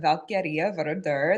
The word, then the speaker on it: Valkyrja Vörðr: introduce yourself yes hello so I am valkia ver that's the formal pronunciation of my name uh in in English